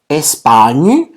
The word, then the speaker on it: Espagne: Espagne. Atención, la G y la N en el francés se pronuncia o es el equivalente a la ñ en el español.